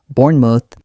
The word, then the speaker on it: Bournemouth: For example, Bournemouth, Bournemouth, short O, light ending. Noddingham, Noddingham. Notice how the ham becomes soft and quick. Say them with me slowly first. Bournemouth.